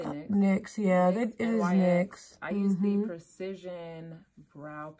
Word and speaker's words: NYX: I use the, what do they pronounce it as? NYX? I say NYX. NYX, yeah, it is NYX.